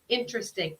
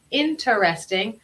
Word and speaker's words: interesting: Entonces, podemos pronunciar esta palabra interesting, aunque en mi caso, con mi acento, yo pronuncio esa palabra como interesting. Entonces, en lugar de decir interesting, yo digo interesting.